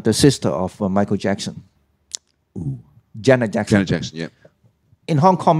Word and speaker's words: Jeanette: middle syllable yeah yeah actually um Jenna is another word it is um j-e-a-n-n-e-t-e Janet yeah that's generally they're